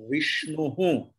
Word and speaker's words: Vishnuhu: So Visarga's pronunciation will be Vishnu Hu.